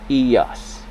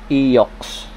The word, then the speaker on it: EOX: ang e so ang ang pronunciation nito is eos hindi siya yung eox eos Okay so move